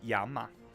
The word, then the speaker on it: llama: Person on a llama. It's pronounced yama.